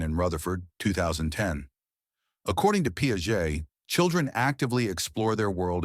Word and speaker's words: Piaget: Jean Piaget, pronounced Piaget, was a Swiss theorist who lived from 1896 to 1980.